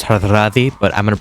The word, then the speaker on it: Hardrada: And there's this guy, so his name, according to Wikipedia, is pronounced Hardrada, but I'm going to pronounce it Hardrada because that's the way it looks, and Hardrada is kind of weird to say.